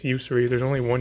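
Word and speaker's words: Yusri: One thing about this card, I see a lot of people pronouncing it as Usuri, but it's Usuri.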